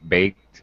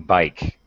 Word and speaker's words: bake: My cake baked in Baked. my oven. Okay. Sure. All right. Be careful of pronunciation there, Vu. Yes, yes. Baked. A baked. Bake. Oh, Bake. sounds like you're saying bike. Okay.